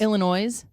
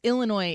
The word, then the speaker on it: Illinois: It's Illinois if you're from there and you know what you're saying. It's Illinois if you're like, I don't care.